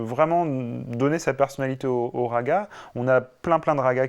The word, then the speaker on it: raga: D'un côté, le raga, et de l'autre côté, le tala. Alors qu'on prononce rag et tal en Inde.